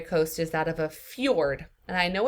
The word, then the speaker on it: fjord: The next example of a primary coast is that of a fjord. And I know it's spelled F-J-O-R-D, but it's pronounced with the J as like a Y.